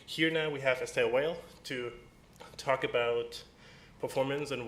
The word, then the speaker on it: Weyl: last name is pronounced Weyl.